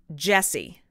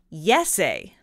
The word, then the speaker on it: Jesse: to be pronounced and how they would pronounce it in Finland and so that is